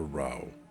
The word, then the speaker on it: row: What a devil of a row. I guess it's supposed to be pronounced row in this case."